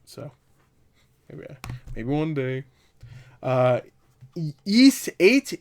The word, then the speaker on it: Ys: yeah maybe one day east eight is a yeast or East I've heard it to pronounce the EES I'll say YZ YZ 8 luck from lacrimosa